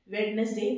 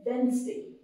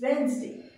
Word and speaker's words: Wednesday: We say Wednesday. जो आपका डी है इसमें, इसकी आवाज नहीं आती है डी की। बोलिए मेरे साथ, चलिए प्रैक्टिस करिए। इट्स वेंसडे। Okay, what is इट? वेंसडे। वेंसडे, वेडनेसडे नहीं।